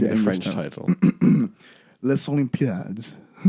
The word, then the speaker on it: Les Olympiades: Les Olympiades. It's Paris 13th district, Oh, which is called Les really? Olympiades. Really? Yeah, I think Okay. it's the S is silent.